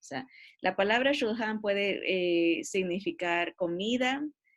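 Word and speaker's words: שולחן: Acuérdense en que CH en hebreo se pronuncia como J, cuando está en la mitad el CH. Si estuviera en la primera, la CH se pronuncia como K. Si estuviera al principio de la palabra, pero como está en la mitad sería shulhan.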